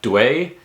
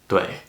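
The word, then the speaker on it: 对: UI is pronounced as if it were written U-E-I. So it's ue, right? So you can take a word like dui in Chinese, which means correct or right, right?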